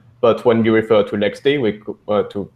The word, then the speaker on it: LXD: So you actually, when you say it, you spell it out LX.